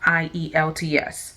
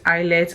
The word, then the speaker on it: IELTS: me to start from the full meaning of IELTS now the full meaning of IELTS is international